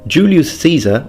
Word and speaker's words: Julius Caesar: Julius Caesar, or Julius Caesar as it's pronounced in classical Latin, first is an eyewitness